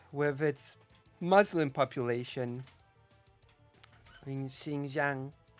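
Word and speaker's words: Xinjiang: with it Muslim population Shing Jang that's how you pronounce it like that's what's China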